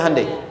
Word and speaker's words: Hyundai: bikin Honda sini HD hyundaikan dibacanya Handai sana Honda sini apapun